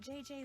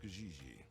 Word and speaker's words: JJ Ling: this one on fiancee you pronounce g like j and j like g she may very well be jj in america but in france she is gigi from what i hear